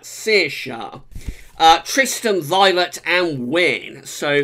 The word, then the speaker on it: Saoirse: Now I think that S is Saoirse. I'm sure someone in Ireland will correct me if that's wrong, but I think you pronounce that Saoirse.